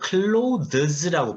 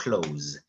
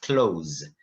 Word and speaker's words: clothes: 근데 발음하실 때 이걸 clothes라고 발음하는 분들이 있는데 그렇게 발음하지 않습니다. 그냥 편하게 영어에 닫다 close 아시죠? close. 그것처럼 발음하시면 됩니다. 그래서 cloth, clothes.